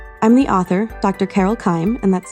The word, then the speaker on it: Keim: Amazon and Kindle I'm the author Dr Carol Kim and that's spelled k e i m you can also